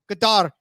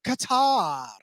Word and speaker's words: Qatar: afterwards, because it's a lot harder to say Qatar every single time.